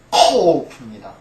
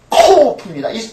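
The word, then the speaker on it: קוף: 근데 이건 K가 아닙니다. K가 아니고 그 영어에서 말하는 Q 있죠? Q 발음입니다. Q 발음을 낼 때 어떻게 냅니까? 목구멍 아주 속으로부터 그것을 끄집어내야 되는 소리죠. K는 어때요? 가볍게 그냥 가볍게 K 이렇게 말하 크 말할 수 있어요.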